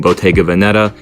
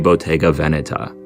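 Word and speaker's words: Bottega Veneta: often hear people saying BGA Vanetta and to be honest that's what I used to call it but because the name is Italian the correct pronunciation is technically BGA Veneta call it whatever you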